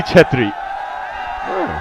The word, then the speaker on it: Khatri: form of a surname KC stands for khatri pronounced as khatri as well you didn't give me the C bit you only gave me the K but yeah it's khatri chatri it's got a little bit